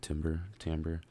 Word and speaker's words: timbre: It gives it a nice, how do you pronounce it? Timbre.